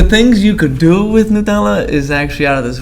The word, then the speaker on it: Nutella: For my American friends, Nutella. That's how you say it. Nutella.